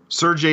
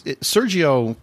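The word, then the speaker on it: Seargeoh: I mean, it's Sergio typically is spelled S-E-R-G-I-O. Mm-hmm. It looks like it would say Sergio to me. Yeah. It's S-E-A-R-G-E-O-H. S-E-A-R? Like Sear. Sear. G-E. G E O H Sergio. Oh yeah, Sergio.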